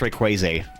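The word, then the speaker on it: Rayquaza: I know you guys are always giving me about how I pronounce Pokemon names, but I say Rayquaz cuz he's like crazy, right? Ray Crazy.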